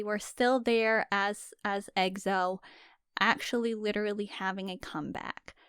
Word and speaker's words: EXO: X-O running it back I remember when we used to call them EXO did we really yeah like BTS EXO and because they say it that's how they say it in their song okay so that's right